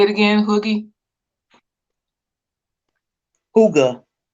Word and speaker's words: Hygge: Hooga. Hooga. I'll remember it now. Hooga, like a hookah.